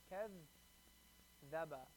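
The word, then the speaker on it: كذّب: Kaz zaba. Kaz zaba. Kaz zaba. Kaz zaba. Kaz zaba. Kaz zaba. When you connect it, it's going to be kazzaba. You connect it, it's not going to be kazzaba.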